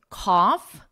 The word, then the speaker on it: cough: The vowel is different, but also the GH at the end is different. Here we have a and F. Tough, bow, there is no GH at the end. It's totally silent. And F again, cough, and no GH. It's silent.